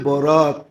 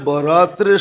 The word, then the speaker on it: বরাত: উর্দুতে আরবিতে একরকমই লেখে কিন্তু উচ্চারণে ডিফারেন্স একটা হলো বরাত আরেকটা হল বারাত একটা হলো মুক্তি একটা হলো চলন মানে আকারের পার্থক্য আর